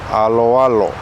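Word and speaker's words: aloalo: It's often mispronounced as alo alo, and they kind of break it up into two parts like that. Alo alo. We don't want to do that because native speakers will pronounce it alo alo. So that last O and that A blend into each other.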